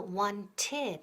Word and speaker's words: wanted: Pero ojo, ¿te has fijado que el verbo to want en el pasado wanted sumamos una extra sílaba? ¿Por qué? Porque el verbo acaba en un sonido T, ¿ok?